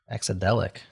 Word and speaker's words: Exadelic: Exadelic. That's how you pronounce it, Adam.